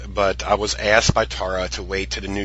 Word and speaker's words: Tara: can look her up it's t-a-r-a like Tara pronounce Tara Cardinal she's known as like